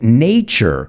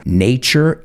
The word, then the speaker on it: nature: Remember, those words with TU, you got to pronounce it like ch-ch-cha.